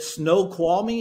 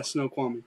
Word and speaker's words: Snoqualmie: you're six six right yeah so is it snow qualming is that how you pronounce it yeah Snoqualmie okay snow qualming so six six uh offensive